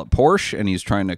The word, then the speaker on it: Porsche: It says Porsche is 2 syllables.